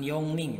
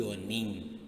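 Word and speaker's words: 四人: empat empat orang itu bukan yongning tapi yeoning gionik dibacanya yuk Nih kayak gitu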